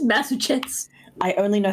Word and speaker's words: Massachusetts: hardest word to pronounce it's massetts for Massachusetts that is hard to pronounce yeah it's just Mass Chets I only know how